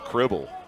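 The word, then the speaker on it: Kriebel: and asked the coach is it kble or kble and he goes cribble well wasn't it says rhymes with dribble okay I said oh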